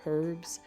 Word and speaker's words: herb: sometimes people will say herbs but most of the time the word is pronounced herb homage honest honor and hour hour they begin with h but the H is silent now we have some